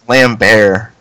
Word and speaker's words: Lambert: Yeah, it's like Lambert. Lambert. yeah, it's like you don't pronounce the T. It's because he's French.